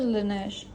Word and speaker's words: Laneige: I don't think that's how you pronounce it. You pronounce it Laneige.